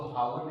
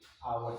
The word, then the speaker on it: hours: फॉर 3 hours, आवर्स, इसको हावर नहीं पढ़ते, आवर्स पढ़ते।